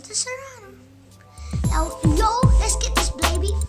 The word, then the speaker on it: Cyrano: The Cyrano is all finished.